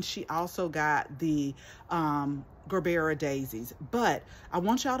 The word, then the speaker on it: gerbera: flowers is the um she call them gerber daisies i call them gerbera daisies because it has an a on the end not sure um pronounce